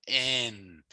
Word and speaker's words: un: In Michif, it's n, but you don't really pronounce the N.